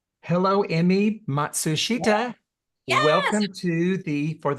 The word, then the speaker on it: Emi Matsushita: Hello, Emi Matsushita.